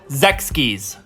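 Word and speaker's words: Sechs Kies: right now so yeah the group name is pronounced Zechs keys so in case you didn't know his stage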